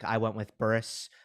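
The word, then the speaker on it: Zizou Bergs: Belgium engine kid zizu burgs yeah Daddy pronounce it well technically you don't say the g but I'm curious okay yeah just just Burris um yeah like Burris but I'm curious to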